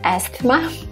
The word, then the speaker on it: asthma: Asthma? No, asthma. So in this case, we have silent T and silent H, asthma.